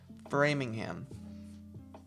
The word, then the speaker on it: Framingham: And I always try and pronounce it a different way than I should be pronouncing it, but Framingham.